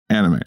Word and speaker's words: anime: or anemon it's the first one anemy anemy anime uh which gained widespread popularity with American audiences